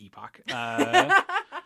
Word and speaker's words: epoch: I know it's pronounced epic, but it's not as clear, so I'm gonna say epoch.